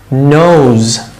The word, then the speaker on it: nose: এই উচ্চারণটা ইংলিশ আছে কিন্তু বাংলায় নেই।